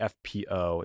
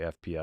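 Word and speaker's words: FPÖ: Austria where the farri Freedom Party or the fpo it's actually pronounced FP because there's an umot but I'll say fpo because we're Americans which was a party literally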